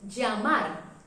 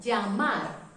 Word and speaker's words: llamar: And so the pronunciation of this letter is Ya, Ye, Yi, Yo, You. For example, we have the word llamar, to call, llamar.